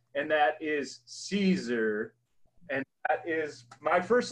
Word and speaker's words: Siser: always my lesson number one, how to properly pronounce the name. And that is Siser.